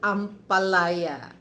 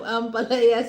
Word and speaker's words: ampalaya: Okay, Paranaque, and then and every time, because this is one of my favorite vegetable, the bitter gourd, or we call that ampalaya.